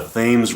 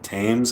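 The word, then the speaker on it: Thames: like on the like was it the themes Riv or the tames I think you pronounce it have you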